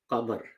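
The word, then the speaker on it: قمر: And then you have the word qamar, moon. But if you add al to it, it becomes al-qamar. Al is pronounced, lam is pronounced, and lam of al is pronounced in full, al-qamar.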